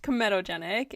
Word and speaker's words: comedogenic: So it's pronounced comedogenic, and argan oil is non-comedogenic, which means that it shouldn't block your pores.